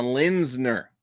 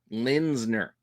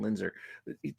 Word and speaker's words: Lindner: Bjorn Barons and a Lindner H said it right this time Lindner I know I keep saying Linder Lindner got it but yeah anytime